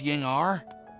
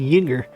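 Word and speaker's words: Ying'er: I uh um collaborated with a certain Miss Ying r that's how you say her name it's Ying R I've been saying yinger like a damn slur all right oh you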